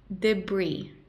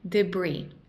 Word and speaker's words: debris: and color temperature not so much value is debris debris debris debris a massive torrent of water and debris swallowed the town many people were crushed by